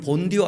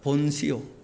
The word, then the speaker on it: 본시오: 그러고 난 다음에는 그분은 성령으로 인하여 동정 마리아께 잉태되어 나셨고, 얘네들은 본디오 안 합니다. 본시오. 그렇게. TH 발음은 드도 아니고 쓰도 아니고 시오 D 같이 쓰지 않습니까?